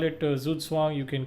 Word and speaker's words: Zugzwang: Okay, it's a German word. It's pronounced Zugzwang, actually. Zugzwang, yeah.